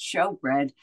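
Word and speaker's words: shewbread: So S-H-E-W is also show. But in any case, so I think the shoe bread is pronounced show bread.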